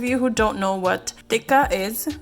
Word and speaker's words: tikka: for those of you who don't know what dikka is spelled t-i-k-k-a it is a blend of spices